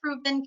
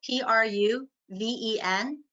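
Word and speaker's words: Pruven: So it's Proven Capital, P-R-U-V-E-N Capital. And you can Capital. And I think of that as an abbreviation of Prudential Venture, Pru-Ven Capital.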